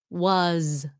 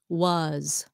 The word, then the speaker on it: was: words that there are common function words that are spelled with an s but pronounced as a z like the word was was he was okay he